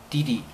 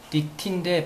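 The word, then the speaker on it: ditty: 그다음 디디, 디디. 디티인데 발음은 디디라고 하죠.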